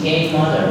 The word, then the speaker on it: queimada: In Portuguese is K mother, right?